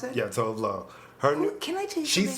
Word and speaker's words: Tove Lo: Is that how you pronounce it? Yeah, Tove Lo.